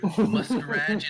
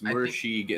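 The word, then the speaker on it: Murashige: Muscarage and skoog. That's a good. Yeah, muscarage. I can't even pronounce it. It's Mursheeg and Skoog.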